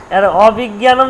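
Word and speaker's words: অবিজ্ঞানম্: উচ্চারণটা হবে অবিজঞান জ্ঞানম না গটা বাদ গ নেই জিয়ানাম জিয়ানম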